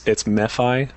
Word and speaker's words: MeFi: It's MeFi.